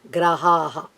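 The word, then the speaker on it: ग्रह: Nava Grahaha. That's how we have to say Graha, Graha, Graha. 2 hraswa letters or short letters are used to give the word Graha.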